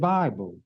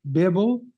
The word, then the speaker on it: Bible: let us reason together I'm not mad at you because you mispronounce it Bible and you're going to be mad at me because I pronounce it correctly Bibble excuse me I pronounce it Bibble it's what it is